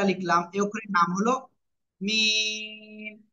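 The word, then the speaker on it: ميم: মিম অক্ষরটা লিখতে হবে মিম অক্ষর কোন জায়গা থেকে উচ্চারণ হয় বলেছি দুই ঠোঁটের শুকনো জায়গা থেকে কি বললাম দুই ঠোঁটের শুকনো জায়গা থেকে মিম অক্ষরটা উচ্চারণ হবে সবাই দ্রুত লিখে ফেলেন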